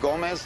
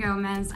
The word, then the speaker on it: Gomez: Dennis, hey, I'm Gomez. I'm with the DEA, Drug Enforcement. It's Selena Gomez. I am super. Here, the Z is pronounced Z.